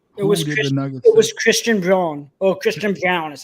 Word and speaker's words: Christian Braun: Oh, Christian Brown is how it's pronounced, but from Kansas.